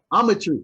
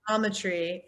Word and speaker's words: Ometry: So again, second Ometry. Okay. Ometry. I would think about geometry. Ometry. Exactly. Thank you. That's what you were supposed to think, but even my mom is like, Ometry, Onetry, autometry, like it's a problem.